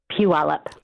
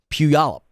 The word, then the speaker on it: Puyallup: way to say that pewallop puyallup did i say that better yeah you say that like the yao with a wha ah okay help you all up okay very good all